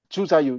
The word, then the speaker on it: Zhu Zaiyu: I guess I have one question regarding Vincenzo Galilei and how do I pronounce it? Zhu Zaiyu? Zhu Zaiyu, yes.